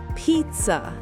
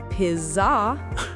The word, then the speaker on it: pizza: Exactly. Pizza. Not pizzah. If I say piza, it sounds weird. Right. It sounds wrong. The stress is on the first syllable.